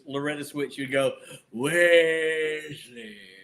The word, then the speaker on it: Wesley: You got the last name right, but his first name is Wesley. Well, you know why? The Weasley is kind of fun.